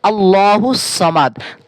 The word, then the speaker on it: সামাদ: দিবেন না সামাদ বলে টান দিবেন না আর আল্লাহুস সামাদ সামাদ নামটি সূরা ইখলাসের ভিতরে আছে আপনি এটাকে অবহেলা করে পাঠ করবেন না এভাবে করে সঠিক উচ্চারণে পাঠ করবেন আল্লাহুস সামাদ তারপরে এই দোয়াটাকে আপনি